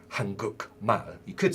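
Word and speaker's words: 한국: hunger and when it's on its own it's pronounced Hankook Korea but when this word is put with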